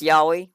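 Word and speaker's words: yaoi: case for liking oh that's a good example yahi so yahi is a fun one y a o i so it is a Japanese word it is pronounced yahi like the mythical creatures in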